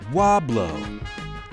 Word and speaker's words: Weaubleau: town let's see which sporting players can correctly pronounce the names of towns around the Midwest today's sound is Wahb love located in Missouri what is it French why